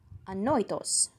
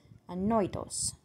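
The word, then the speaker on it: ανόητος: Annoitos. Annoitos. Sounds like annoying. Annoitos.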